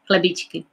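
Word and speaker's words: chlebíčky: Chlebičky.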